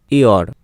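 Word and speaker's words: year: যেমন দেখো ওয়াই ই এ আর, ইয়র, উচ্চারণ হবে ইয়র, ইয়র। তো ওয়াইয়ের উচ্চারণ অন্ত্যেষ্টিয় হচ্ছে, বোঝা গেল।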